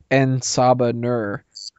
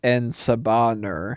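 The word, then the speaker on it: En Sabah Nur: wrong all these years I thought it was saan Nur not andaban ner so now I kind of feel like a jackass for the past you know 20 years I've been saying that wrong well I mean his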